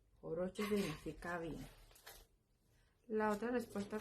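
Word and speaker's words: хорошо: Sopowo, pero se pronuncia jorosho. Horocho significa bien.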